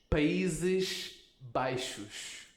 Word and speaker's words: Países Baixos: This X sounds the same as this S. Dos Países Baixos. I wish this That's a were a tough simpler country. Nice. Philip, can you say dos Países Baixos?